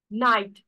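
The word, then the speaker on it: knight: Example, night, K-N-I-G-H-T, but will be considered it as a night.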